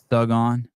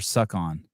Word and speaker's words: Sug On: Sug on. Are you supposed to pronounce it Sug on or Suck on? It's G's. Sug on.